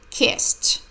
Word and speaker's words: kissed: when I kissed her the first Ed sounds like tea and the second Ed sounds like tea laughed kissed she laughed when I